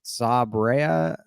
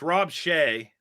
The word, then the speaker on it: Rob Shea: And some of the ones that I believe it's Sabrea. Is that how you pronounce his name? Well, it's Rob Shea, but he flipped.